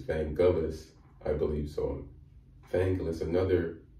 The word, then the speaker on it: Vangelis: people said it's not it's not evangelists it's van gaalis i believe so thankless